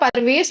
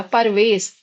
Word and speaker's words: प्रवेश: अगर आप परवेश बोल रहे हैं तो प्रवेश का तो यह रूप लिखा जाएगा। प्रवेश और उच्चारण क्या होता है? प्रवेश। कारण प स्वर रहित है। र स्वर सहित है।